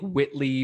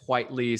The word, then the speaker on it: Whiteley: it's it's i would think whitley but it's white lee so i asked derek